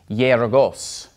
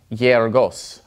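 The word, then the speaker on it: γεωργός: eta, or epsilon, or when it comes before an epsilon like this, it's more like a Y sound. Okay, so this word is pronounced yergos, yergos.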